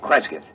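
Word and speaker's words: Cresgyth: C R E S G Y T H Kresith.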